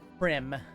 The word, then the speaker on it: Prem: Was that Prim or Pram? Prem, with an E. Prim, I will like write it prim down. and proper. Not Prim, but Prem.